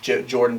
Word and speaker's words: Jordun: a pretty unique name my name is jordan but it's spelled j-o-r-d-u-n so i'm like wait